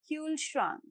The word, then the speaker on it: Kühlschrank: Kühlschrank. Now let's have a look at the pronunciation tips.